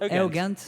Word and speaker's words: Eugent: My name is Eugent. It's pronounced Eugent.